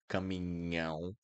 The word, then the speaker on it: caminhão: So NH will always sound like niño in Spanish, always.